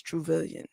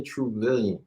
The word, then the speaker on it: Truvillion: Yeah, and your name is Tobias Truvillion. Yes, you said it right. And Billion, trillion, Truvillion.